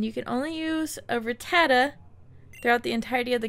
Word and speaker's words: Rattata: catch our rata and I have to get used to saying Rattata cuz I'm not sure